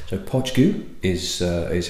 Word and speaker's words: Poit Dhubh: is a blended malt which is called as pronounced poach goo it is Gaelic words it's the gala pronunciation so it's spelled different to how it's actually pronounced so Podge goo is is how you wanting to pronounce this